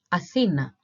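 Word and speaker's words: Αθήνα: it out in Greek so we have a f e that has the stress the accent okay n a so if we try to pronounce it all together Athena Athena Athena and Athens are are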